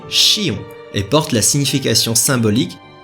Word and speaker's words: Xion: la médecine ergologie chinoise au japon cette fleur se prononce vous l'aurez deviné chillon et porte la signification